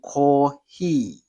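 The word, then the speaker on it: コーヒー: In Japanese, they have to say kohi. So this is ko, right? It is a long vowel. He is also a long vowel, so it's a kohi rather than coffee, right?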